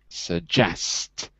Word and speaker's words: suggest: So the stress is on the second syllable. Not suggest, but suggest.